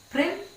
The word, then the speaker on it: Prynne: Prynne rhymes with sin, while Dimmesdale suggests dimness, lack of insight, lack of boldness that characterizes the young minister.